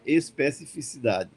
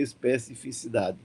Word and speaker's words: especificidade: Quando ele está escritozinho assim, a gente nem se preocupa em pronunciar, que é só botar o olho e dizer especificidade. Mas quando não está escrito, às vezes a gente diz especificidade e passa por cima do som, porque não é uma palavra do nosso uso corriqueiro.